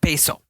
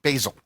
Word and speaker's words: basil: How do you say it? Basil. Basil. Not basil. Basil.